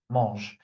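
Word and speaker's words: mangent: Okay, mo. So, uh, you don't hear me saying anything, not because I hear this mistake a lot. Don't do it. Mo, the ent is silent.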